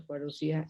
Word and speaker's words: parousia: Reteniendo en mente todo lo dicho, vayamos al Nuevo Testamento y veamos cómo se usa parousia en él.